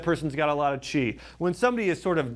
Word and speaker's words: qi: You know, within Chinese medicine, you have something called your body's qi. Now, qi is spelled Qi, okay? So Qi.